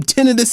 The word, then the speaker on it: tinnitus: that people that got the vaccine were experiencing tinnitus, ringing in the ear. Tinnitus, I should say, is how it's pronounced.